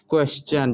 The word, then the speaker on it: question: ठीक है, क्वेश्चन जैसे QUESTION। देखिए एस के बाद TION आ रहा है तो इस वजह से यहाँ चन का उच्चारण हुआ, क्वेश्चन।